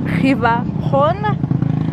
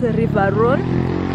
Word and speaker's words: Rhône: It's called River Rhône, or if you pronounce it English way, it's River Rhône, and it flows to the Mediterranean Sea, which is not far from here.